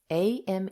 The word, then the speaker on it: AME: Am collaborative. A M E is pronounced Am in French.